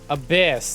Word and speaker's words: ABIS: it's pronounced kaname date you're a member of abyss and that means you answer to me abyss that's how they pronounce that thank you i called